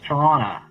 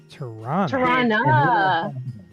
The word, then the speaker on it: Toronto: It's Toronto. Toronto. It's a schwa at the end. Toronto.